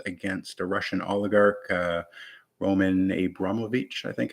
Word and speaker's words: Abramovich: trudeau's recent sanctions against a russian oligarch roman abramovich i think it's pronounced uh who's a bazillionaire apparently and owns